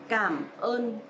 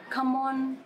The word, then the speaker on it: cảm ơn: In Vietnamese, you pronounce a bit stronger, heavy and clear, more clear, just like cảm ơn. Because some of my foreigners' friends, they pronounce come on, come on, or come on, but actually it's cảm ơn, just like K. So you pronounce stronger and clearer, cảm ơn, instead of come on.